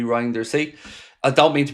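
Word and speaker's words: Reijnders: It's Rainders or Rinders, excuse me. Reinders.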